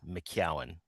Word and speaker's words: McCowan: Uh, I have many different reiterations of my last name, but the proper pronunciation is McCowan.